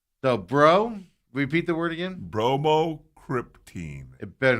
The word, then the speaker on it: bromocriptine: Bromocriptine.